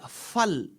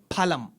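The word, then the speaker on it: फलम्: That is why it is Fal in Hindi and in Sanskritam it is Phalam.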